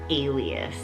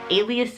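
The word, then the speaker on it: Aelius: So like it's not really common, it's not really out there, and this name is Alias. Now, Alias is spelled A-E-L-I-U-S, and it is the Greek word for sun or sunlight.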